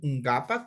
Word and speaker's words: -nkapak: ngapak o ngapak, como usted quiera pronunciar. Ngapak, yo pronuncio como que fuera la G de gato.